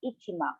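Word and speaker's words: 一万: ichimong in japanese this is the bill for ichiman or ten thousand this is how you would pronounce in ten thousand ten thousand is ichiman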